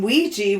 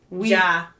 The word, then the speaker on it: Ouija: Though it was more likely a mix of O-U-I, which is the French for yes. Yeah. Oi. And J-A. No, it's we. We? But I we? think it is spelled. Oi. Oi! My Midwest wee-wee. Right? Oi, oi. Oi, oi. So, we, French for yes, and then J-A, which would be German for yes. Yeah. Ouija. Ouija. Yeah. So Ouija. So then it became Ouija.